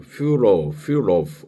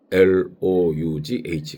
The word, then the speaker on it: furlough: 강제 휴가라고 할 때는 furlough 그래서 FURLOUGH 강제 휴가, 특히 해외 근무 중인 군인 같은 거를 이렇게 휴가를 보낸다 할 때 furlough 발음이 어렵네요.